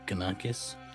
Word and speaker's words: Ganakis: Is it Ganakis? Yeah. Okay.